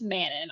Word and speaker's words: Manon: I cannot believe it's Manan it is not Manan it is Manon I'm so sorry like